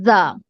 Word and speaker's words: ز: دین جو ہمارا next letter ہے وہ ہے زا. زا زا, اس کو ہم تھوڑا سختی سے ادا کریں گے.